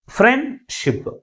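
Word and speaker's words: friendship: ఉన్నాయి two syllabus ఉన్నాయి ఫ్రెండ్ షిప్ to syllabus ఉన్నాయి ఈ టూ సిలబస్ లో ఏ సిలబల్ ఎక్కువ ఫోర్స్ గా పలుకుతుంది ఫస్ట్ సిలబలే ఎక్కువ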